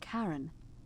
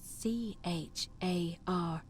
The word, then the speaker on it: Charon: It's just as you described it, only your pronunciation is a little off. The name you heard wasn't Karen. It was C-H-A-R-O-N, as in Charon, the ferryman of the dead.